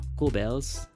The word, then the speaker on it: Goebbels: It is said that propaganda minister Joseph Goebbels, that's how it's pronounced, insisted that a 440 hertz tuning in Germany should be believed.